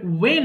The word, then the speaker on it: when: এরপর শুনেন দেখি এরপরে ওয়েন আছে WH এর পরে এই H এর উচ্চারণ দরকার হয় না এখানে ওয়েন এটা যদি